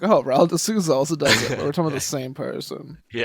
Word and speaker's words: Raul de Souza: Raul de Souza. That's how you say it in Portuguese.